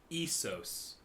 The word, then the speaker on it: Essos: No, it's Essos.